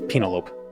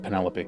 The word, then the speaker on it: Penelope: In high school when we were reading the Iliad, one of the somebody said uh thought it was Penalope instead of Penelopey.